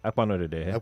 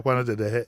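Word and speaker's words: Akpanudoedehe: You brought back the chairman, but you knocked out the please pronounce his name. Acting Akpanodedehe. Akpanodedehe.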